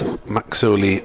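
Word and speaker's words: Makazole: When I learnt that player had been pronouncing as Maxoli Mapimpi should have had a click halfway through the first name.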